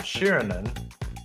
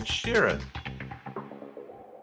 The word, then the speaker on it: Sheeran: I got to say it right. It's not Shirinan. It's Ed Sheeran.